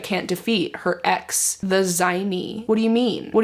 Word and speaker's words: zmei: ex is a dragon zme Y what how do you pronounce that her ex was a dragon oh zi okay that makes sense it says her ex